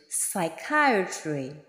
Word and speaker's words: psychiatry: Nous le prononçons psychiatry, psychiatry, dont le P ne se prononce pas.